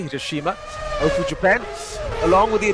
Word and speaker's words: Hiroshima: Mazda operates major production facilities in Hiroshima, as the Americans say, Hiroshima, Ofu, Japan, along with